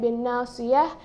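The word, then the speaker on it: بناصية: So you notice it is bin nasiyati. Okay, of course while pronouncing it, when you stop, it's of course a ha sound at the end, bin nasiyah.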